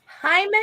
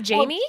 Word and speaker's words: Jaime: Jaime Reyes. Hi. Yes, I'm glad you said it right. Yes. Wait, Lucy, it's not Jamie?